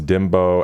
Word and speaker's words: dembow: Pronounce dembow as dembow. Stress the second syllable. Bow, which sounds like bow, or the English word dough.